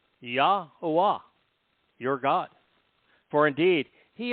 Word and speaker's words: Yahowah: Return, shub, to Yahowah. Easily pronounced. 4 vowels. Yahowah, your God.